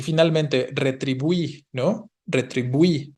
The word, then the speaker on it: retribuí: Y finalmente, retribuí, ¿no? Retribuí. Esta es aguda, el diptongo se encuentra hasta el final y ahí sí tengo que tildarlo, ¿no?